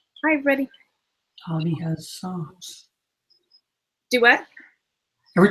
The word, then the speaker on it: Dobby: Well, Harry Potter, was it Dobie or Dobby? It's Dobby.